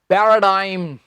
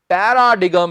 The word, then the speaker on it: paradigm: सो इसका उच्चारण है स्टूडेंट्स पैराडाइम। पैराडाइम, पैराडिगम नहीं, ये है पैराडाइम।